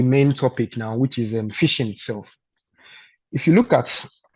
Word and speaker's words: phishing: So now, going into the main topic now, which is phishing itself. If you look at the word, the phishing and the fish itself, like fishing, it's having the same the same pronunciation, but different spelling.